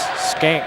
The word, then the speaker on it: Skank: Yeah, it looks like Shank, but it's Skank that they pronounce that.